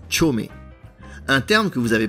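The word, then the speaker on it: chōme: tiret parfois de ces deux kanji qui se prononcent chomeé un terme que vous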